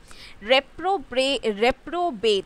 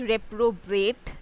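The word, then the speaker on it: reprobate: Okay, रेप्रोबेट, नॉट रेप्रोब्रेट, that is a wrong pronunciation.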